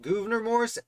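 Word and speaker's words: Gouverneur Morris: just2 what's fun about governor morris actually and i know it's governor morris but it feels like governor when i look at how it's spelled uh the thing about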